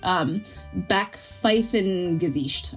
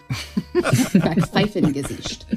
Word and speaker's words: Backpfeifengesicht: But I'm going to try to say this right. Backpfeifengesicht, I believe is how you say it. And it means a face in need of a punch, a slappable face. Backpfeifengesicht.